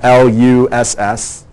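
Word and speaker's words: loess: parent material we call LUSS. It's a German word. It's pronounced L-U-S-S, LUSS.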